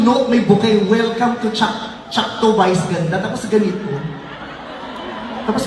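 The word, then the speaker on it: Choctaw: Is it Chakto, Chakto, or Chaktaw? Sabi, it's Chakto.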